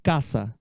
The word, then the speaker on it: casa: Só que aqui a gente pronuncia esse S com som de Z. Casa, né? Em espanhol não. Casa.